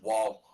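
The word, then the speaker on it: Woll: The only people that played for us are Sholgren, Murray, and Samsonov, and now Wool. Last year, not this year. It's pronounced wall. Literally, what? He's a wall.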